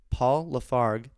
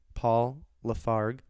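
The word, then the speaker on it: Paul Lafargue: in a classic statement paul lafarg hope i pronounce that correct paul lafarg l-a-f-a-r-g-u-e argued for limiting work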